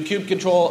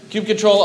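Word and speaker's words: kubectl: flow will ideally look like this you do cube control a cute control and that's how you pronounce it cube control apply components and it will create it on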